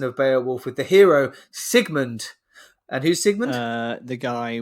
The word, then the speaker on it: Sigmund: talking about Sigmund because you kept pronouncing its segment and I said oh I think it's Sigmund because I knew that